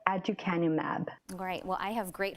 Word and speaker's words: aducanumab: All right, and tell me again how, if people want to Google it, how to pronounce that drug. It is called aducanumab.